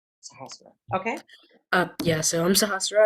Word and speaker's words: Sahasra: Sahasra. Pronounce it for me again. My name is Sahasra. Sahasra.